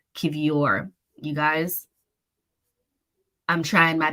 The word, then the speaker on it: Kiwior: Also, apparently it's Kiwior.